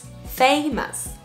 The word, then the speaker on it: famous: W World World World les mots en ous ne se disent pas ous ils se disent famous famous donc si vous voyez à la fin de mot c'est jamais en anglais c'est toujours us like us famous famous encore une fois